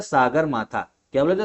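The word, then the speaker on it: सगरमाथा: ध्यान रखना और नेपाल में बोला जाता है सागर माथा क्या बोला जाता है सागर माथा तो तिब्बत में चोमो लुमा और नेपाल में सागर माथा तो इंपॉर्टेंट है ये चीज इतनी पता होना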